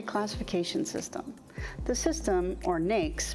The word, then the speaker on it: NAICS: system the system or Naik's pronounced like snakes is the standard used